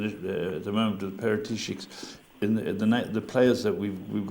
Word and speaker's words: Paratici: Fabio Paratici.